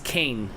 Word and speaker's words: Kang: Yeah, not cane like sugar cane. No, but that's Kang. I don't say G. I don't have any G's or INGs in my vocabulary, so it's Kane. K-A-N-G.